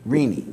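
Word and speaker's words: Rinne: How do you pronounce his last name? Rene.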